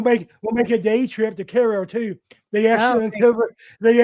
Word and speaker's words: Cairo: enough that Mo Train even wor about uh Caro in Huck Finn and the Adventures of Huck Finn.